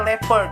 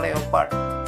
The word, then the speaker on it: leopard: the tiger nah teman-teman ini dibacanya level ya bukan Leopard the levels is smaller